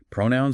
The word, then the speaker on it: pronoun: Pronoun stress on the first syllable.